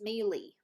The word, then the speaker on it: melee: say it in canada instead of melee it's mealy we say it melee apparently i don't know